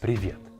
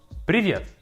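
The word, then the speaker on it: привет: Your very first word is piet. Piet and it means hi.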